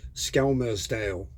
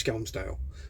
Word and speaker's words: Skelmersdale: I didn't realise it was spelled like, because when it's spelt, it looks like it's pronounced Skelmersdale, but it's not. It's Skelmersdale.